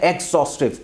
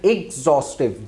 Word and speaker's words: exhaustive: Like normally student जो इसको pronounce करते हैं वो क्या कहते हैं, एक्सॉस्टिव. एक्स की साउंड निकालते हैं जो कि कम्प्लीटली रॉन्ग है आपके पास. सो आपने क्या करना है, एग्जॉस्टिव. जी की साउंड आपने इसको करनी है एग्जॉस्टिव,